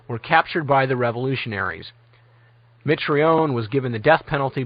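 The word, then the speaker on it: Mitrione: Fry, spelled like it sounds, were captured by the revolutionaries. Mitraion was given the death penalty by a people's court while Fry suffered a heart attack and was released.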